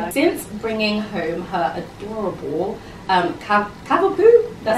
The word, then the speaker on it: Cavapoo: Since bringing home her adorable Cavapoo, that's how you pronounce it, right?